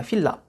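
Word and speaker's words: FILA: 가져 휠라 근데 어 이게 우리나라 한 글이 유일하게 발음이 안되는 그런 알파벳의 많이 있는 그런 발음이 요 정확히 말하면 s 이제 휠라 가 p 도 아니고 키 또 아니고 그 사이 라고 봐야 되는데 저 바로 이제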